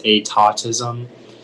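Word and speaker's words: étatisme: Yeah, so the only pronunciation is atautism.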